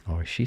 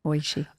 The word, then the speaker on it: Oishii: Oishii Sushi. I've eaten, 1,000 of these and never knew how to pronounce it.